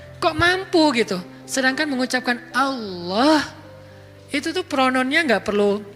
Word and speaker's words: Allah: Hilangin alifnya, tinggal lillah. Artinya milik Allah. Hilangin lam pertamanya, bacanya lahu, milik dia, yaitu Allah. Hilangin lam keduanya, tinggal hu, dia satunya, yaitu Allah juga. Jadi tetap bermakna Allah.